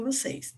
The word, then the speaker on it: você: até comentei isso com vocês ela está corretamente acentuada a palavra você do texto dois é uma palavra oxítona você sílaba tônica é